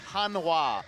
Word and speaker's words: Hanwha: was hung Kwong yes the H before the W which is again not how it's written but how it's supposed to be pronounced so that's what we're